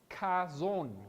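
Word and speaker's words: חזון: O Chazón, creo que más o menos se pronuncia así, Chazón.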